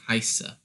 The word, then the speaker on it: heiße: help with this one, for heiße, it's a E-I or an I-E thing. So the I gets pronounced, and the weird looking B is just two S's. So you're just saying heiße. So you're not pronouncing the E, just the I.